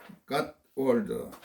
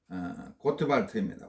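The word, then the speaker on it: Gottwald: 요청하는 겁니다.이 이 사람은 노만 갓월드 독일 사람인데 노 독일어로 발음하면은 어 노르만 고트발트입니다.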